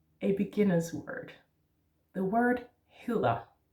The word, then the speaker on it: hedder: Now, hedder is with two D's, but we don't say the two D's. We say one D, and it is soft.